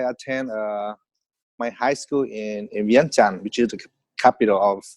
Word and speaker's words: Vientiane: Or Vientiane is how Mika pronounce it, but the really pronunciation is called Vientiane.